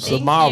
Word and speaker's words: Samara: Did I say it right? You did. Samara, Thank you. just like the singer.